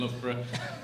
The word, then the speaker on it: Loughborough: The only people who know how to pronounce Loughborough are the people who live or work or who have trained in Loughborough.